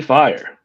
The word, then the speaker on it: Fyre: How do you say that? Fire Fest. Fire. FYRE. You still say fire. Fire.